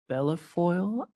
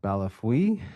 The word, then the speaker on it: Bellefeuille: an individual named Scott Bellafoil? Or how do I pronounce the name? I'm sorry if I mispronounced it. Yes, Your Honor. I believe it's Scott Balafui, but I know him as Scott B.